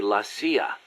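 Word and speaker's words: la CIA: So the story goes around here they say lassia instead of CIA. Huh. Um nothing strange about it. That's how it's pronounced when you read it in Spanish.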